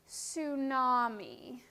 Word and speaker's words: tsunami: a tsunami everybody say tsunami the t is silent a tsunami is a giant wave